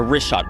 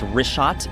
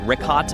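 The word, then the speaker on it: Richat: The rishot r i c h a t. It's worth mentioning that. Yeah. In the first couple uh I just want to say it's rishot. I used to call it rickot.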